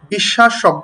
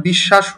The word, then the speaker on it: বিশ্বাস: বিশ্বাস শব্দটিকে দেখো, স এর নিচে একটি ব আছে। প্রকৃত উচ্চারণ কি হওয়ার কথা ছিল? বিশ্বাস, কারণ স এর নিচে ব আছে, তাই না? অথচ প্রকৃত উচ্চারণ না হয়ে বিকৃত উচ্চারণ হলো, অর্থাৎ বিশ্বাস হলো।